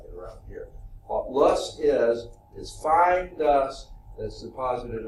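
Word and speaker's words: loess: It's pronounced lus. Wasn't there a company that made, I think mostly women type products, really nice stuff, smelled good and all that kind of stuff. It was called Lus, L-U-S-S. It's pronounced the same way as that.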